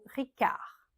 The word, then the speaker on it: Ricard: Perrier Perrier Perna Perna Ricard on ne prononce pas le D à la finch Givan chivanchi.